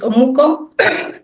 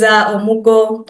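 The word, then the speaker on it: omugwo: If you're far away from home, I know the Nigerians, there is Omuko. Yes, I'll pronounce it well, yeah. So there is Omugo, where grandmothers come and support their daughters to around the house when they've just given birth.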